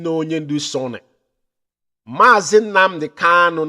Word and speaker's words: Kanu: Mazi Nnamdi Kanu, not Kalu. Mazi Nnamdi Kanu, not Kalu. Our leader's name is not Kalu, it's Kanu Kamanu Ozuzu. K-A-N-U.